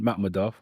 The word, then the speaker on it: Makhmudov: So for so for Arslan Makhmudov, that's the right way to pronounce it, right?